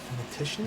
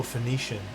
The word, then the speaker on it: Phoenician: Theition scheme. Is that how you pronounce that?